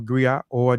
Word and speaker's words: griot: unique Western and unique to Western Africa a gri or jali professional Encompass many R Grio pronounced Grio have been referred to as historians